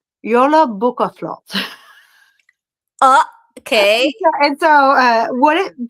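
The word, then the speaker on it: Jólabókaflóð: It's pronounced Yola Bukaflot.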